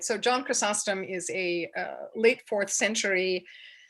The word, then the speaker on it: Chrysostom: John I can never pronounce it, Chrysostom. Chrysostom, it doesn't matter. Chrysostom, people say both, right?